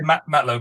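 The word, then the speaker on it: matelot: is that low not low that's how you pronounce we say matlo but it's a French and that's just for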